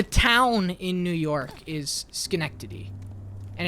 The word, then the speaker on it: Schenectady: The town in New York is Schenectady. And it's pronounced like that.